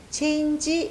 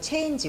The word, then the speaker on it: change: change 이렇게 하지 마시고요. 보통 G 발음에서 change, 우리가 보통 change라는 말을 워낙 많이 쓰기 때문에 change 이렇게 하는데요. change 이렇게 발음을 해주셔야 돼요. G는 되게 짧게 나니까요.